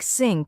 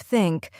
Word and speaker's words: think: native language for example the th sound in words like think and this many Learners pronounce it as s or Zed like syn instead of think or ziz instead of